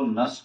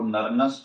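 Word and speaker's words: Nernst: तो सबसे पहले मुझे एक तो नस की इक्वेशन मालूम है। इसमें आपको मालूम ही है, ये वाला एन साइलेंट है, इसको नरनस्ट नहीं, नस की इक्वेशन कहते हैं।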